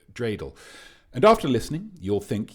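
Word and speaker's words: dreidel: uh and like a drreidle in a haystack. Uh presumably he means uh dreel.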